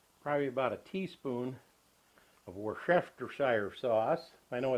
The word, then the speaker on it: Worcestershire: little bit of probably about a teaspoon of water shire sauce i know it's worcestershire but well however you pronounce it i always say worcestershire and about